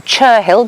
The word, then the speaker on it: Cherhill: An unusual name, well, Cherhill, but Cherrell is how the locals pronounce it.